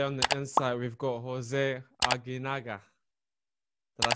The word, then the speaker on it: José Aguinaga: All right, ladies and gentlemen, today on the Insight we've got José Aguinaga.